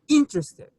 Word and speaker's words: interested: you might be you might not be interested um that's how you say it oscar interested okay the stress is on the first syllable thank you number three